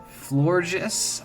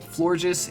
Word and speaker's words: Florges: all right now we get to gen six flourges as how I pronounce this Pokemon the name florges is basically a Blissey this thing's like an